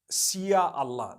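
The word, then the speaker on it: Insya Allah: If you look at, the Malay language, they write in Sia Allah, the S-Y-A. They pronounce the S-Y the way we pronounce S-H.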